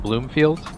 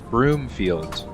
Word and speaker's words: Broomfield: Is it Bloomfield? I want to say it's I'm probably pronouncing it wrong. Broomfield. BR, not BL.